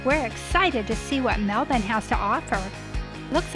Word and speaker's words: Melbourne: cruise is Melbourne and when you spell it it looks like Melbourne but locals pronounce of Melbourne what's your name Michael